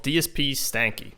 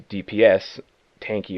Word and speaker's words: DSPStanky: It's DSP and then Stanky. Uh I get a lot of people who say it's a DPS tanky or anything like that.